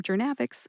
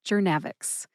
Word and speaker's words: Journavx: Put all three syllables together and you get jernavics. Emphasize that middle syllable, nav. See if you can hear that emphasis when I say it again. Jernavix.